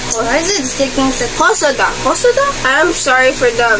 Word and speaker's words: Hosoda: It's directed by Momaro Hoshida. Why is it sticking? Hosoda. I am sorry for the mispronunciation.